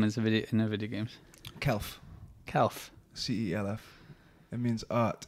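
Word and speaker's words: Celf: Kelf. Kelf. C-E-L-F. It means art in Welsh. Uh-huh. Yeah. Whoa. Kelf. But I think in Welsh you pronounce it Kelv, because uh-huh. F is a V.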